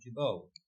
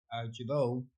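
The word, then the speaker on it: Gibault: Some pronunciations pronounce the T. Uh I have trouble just saying Jabbo. So we'll leave it at that. Father Pierre Jabau.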